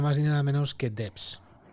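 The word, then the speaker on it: Devs: Y es nada más ni nada menos que Debs. Debs es una forma de pronunciarlo, Miguel Ángel.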